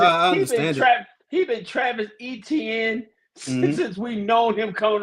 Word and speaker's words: Etienne: He says that it's pronounced Etienne. With the Haitian roots. It's what? It's now what? It's Travis. It's pronounced Etienne. Etienne, like Etienne with the Dolphins.